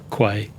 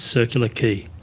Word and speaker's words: Circular Quay: isn't very common and many people mispronounce it as kway believe me you don't want to be laughed at it's circular key so we're offering our